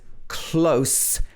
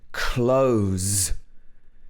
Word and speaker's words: close: the next one is close and close so the first one has s at the end s sound and the second one has z at the end close what's the difference